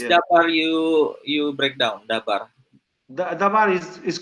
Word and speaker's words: dabar: but is the other word which is called dabar. Nah, di dalam bahasa Ibrani tidak ada kata logos, tetapi ada kata yang lain, yaitu kata dabar. How is dabar you break down dabar? Dabar is called dabar.